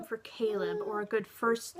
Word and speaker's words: Caleb: I think Caleb is better as a first name because it has a very strong emphasis on the first syllable.